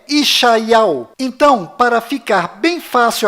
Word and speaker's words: ישעיהו: Bom, agora ficou bem claro que a verdadeira pronúncia do nome de Isaías em hebraico legítimo lá em Israel é Ishaial.